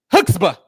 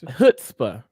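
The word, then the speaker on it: chutzpah: Hookstaba. No, why you say hoots? Why you say hoots? That's what he said. That's what he said. Okay. It's hootsba.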